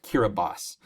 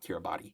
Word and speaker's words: Kiribati: but it's actually pronounced kiribas so uh in the spelling system that's used in kiribas they use a TI to represent the S sound for reasons that are